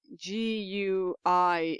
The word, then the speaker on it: gui: um the species microraptor gui g-u-i in chinese is actually pronounced gui okay but because but it needs to be an i sound for latin yes and because it